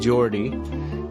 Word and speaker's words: Jorte: So we'd love you to give Geordie a try. Of course, it's free to try. Search for it now in the App Store or Google Play. It's spelled Jorte, Geordie.